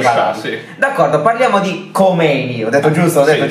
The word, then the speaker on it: Khomeini: In realtà si dice Khomeini. Khomeini si dice. Khomeini è la pronuncia alla francese.